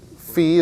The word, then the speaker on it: phi: a letter of what it's a fee is correct pronunciation fee it's a greek letter right instead you want to say phi right yeah doesn't everybody